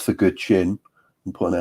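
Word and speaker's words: guqin: But I don't know, Good Chin? It's the same as chin, basically. It's a Chinese word, so you've got the QI, it's pronounced with a ch sound. So Good Chin is kind of Chinese zither.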